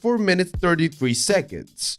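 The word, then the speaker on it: 4′33″: silent track and it's 433 pronounced 4 minutes 33 seconds so let's see 12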